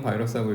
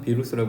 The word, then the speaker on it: 바이러스: 이거 원래 영어에서 온 단어가 아니기 때문에 바이러스도 마찬가지지. 뭐 우리는 바이러스라고 읽지만 비루스라고 읽는 사람도 있어요 실제로.